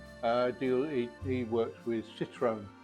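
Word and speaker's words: Citroën: deal he works with citrone or citrin as they pronounce here um he's got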